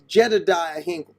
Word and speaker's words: Jedediah Hinkle: Excuse me, I got his name wrong. It's Jedediah Hinkle.